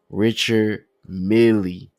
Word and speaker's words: Richard Mille: Richard Mille. I don't know where the Mille come from or the million, but it is just Richard Mille.